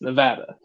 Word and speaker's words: Nevada: Never pronounce the state of Nevada. It's Nevada. Anyone who tells you otherwise ain't from there. Ain't from the area.